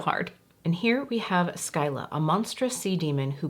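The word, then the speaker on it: Scylla: just want to say this is spelled s-c-y-l-l-a there is also another shade s-k-y-l-a within the Davina Cosmetics collection but from looking it up they are both pronounced Skyla maybe I'm doing it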